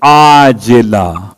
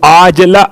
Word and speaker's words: عاجلہ: ایسی نیند کے عاجلہ، وہ جو آپ کہتے ہیں معجل اور معجل عین کے ساتھ، یہ عاجلہ عین سے ہے. ہو سکتا ہے میرے تلفظ میں آپ کو واضح نہ ہوا ہو، اس لیے میں نے کھول دیا.